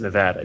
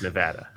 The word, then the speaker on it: Nevada: of the first things I had to heart trade myself on was it's Nevada, you dummy. Yeah. Right. It's Nevada.